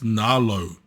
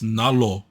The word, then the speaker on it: Nalo: When we first meet Matangi, she refers to her boss, she says Nalo. Then later we hear her pronounce it correctly as Nalo.